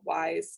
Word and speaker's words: WISe: have a service called wise called wrap around the tents of services the e is silent because then it would be whiz services yeah we don't want